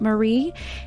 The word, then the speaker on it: Mare: about marie it's pronounced marie and you will see on the um episode it looks like it's spelled mare m-a-r-e but she pronounces it marie and it looks like